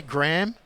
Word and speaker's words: Graham: And it's interesting how Americans pronounce that name. You say Graham. Mm-hmm. We say Graham. Graham? Yeah. You're actually pronouncing it better than I am, because you're actually putting something into the H.